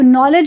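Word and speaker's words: knowledge: के बाद कभी भी अगर आपको एन नजर आ रहा है तो हमेशा ये के आपका साइलेंट हो जाएगा। आप नॉलेज में देख लीजिए, नॉलेज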